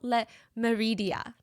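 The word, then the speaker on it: Le Méridien: Hotel Le Meridia. I'm trying to pronounce it in the French way.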